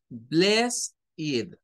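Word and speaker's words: blessed: me está diciendo, mire, esta palabra tiene two syllables, tiene dos sílabas. La primera sílaba está compuesta por todas estas, la B, la L, la E y esas dos S. Y aquí nos dice que entonces lo vas a pronunciar como bless. Y nos dice que la segunda sílaba es esta E y esa D. Y nos dice que esa E y esa D la vamos a pronunciar como id.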